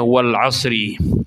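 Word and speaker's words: والعصر: Karena harokat al-asri harokatnya kas. Berarti dibacanya wal 'asri.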